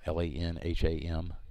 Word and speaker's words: Lanham: Landham is actually how it's spelled. Lanham.